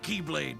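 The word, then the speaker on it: χ-blade: It's just pronounced like keyblade even though it's just one keyblade.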